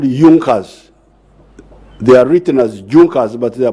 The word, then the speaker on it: Junkers: They are written as Junkers, but they are pronounced as Junkers.